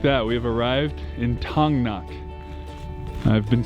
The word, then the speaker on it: Thangnak: and just like that we have arrived in tongnok i've been saying it wrong all day here's